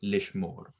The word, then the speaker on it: lishmor: So this is an exception when they add the l to the infinitive, the shava is silent. So it's lishmor in this case.